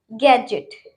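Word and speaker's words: gadget: पहला एग्जाम्पल है गैजेट। गैजेट, इसमें डी है, उसके बाद जी है, तो हम डी को नहीं पढ़ेंगे, गैजेट तो नहीं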